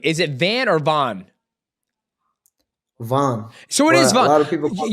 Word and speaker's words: Van: And I was like, "Oh, I his name is Joshua Vahn." And she goes, uh but it's spelled Van. I was like, "Ah, I think it's Vahn." But so, the whole time I've been calling you Joshua Van when it was Joshua Vahn.